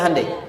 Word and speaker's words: Hyundai: Sehingga ketika di sana bikin Honda, sini Hyundai. Hyundai kan dibacanya Hyundai.